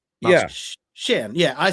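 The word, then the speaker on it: Xian: Like spelled X I A N. That's the like the Vietnamese spelling. Storm is written when she says it sh Han. Sh. She pronounces Shan.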